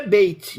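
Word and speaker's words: בית: Eh, a pronúncia é bait, mas não se escreve bait porque não tem vogal.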